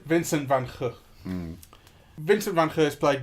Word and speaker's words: Vincent van Gogh: As his brother pronounces it. Everyone in England just goes, Vincent van Gogh. Okay. But that's wrong. Right. Vincent van Gogh.